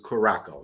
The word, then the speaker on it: Curaçao: Curacao, what we used to pronounce back in the days is Curaçao. Remember, like the drink, you would mix in to make a blue Hawaii. You would mix in a little blue Curaçao.